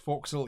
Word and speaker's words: forecastle: foxhole or the forecastle I've always been told it's pronounced folks'll even though it's spelt forecastle and in the art